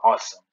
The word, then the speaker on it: OSEMN: So the predictive learning technique that's usually used is the OSEMN process, which is pronounced as awesome, the awesome process, right?